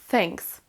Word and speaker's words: thanks: dire tout simplement thanks thanks toujours le même son th avec la langue au niveau des dents thanks là on abège attention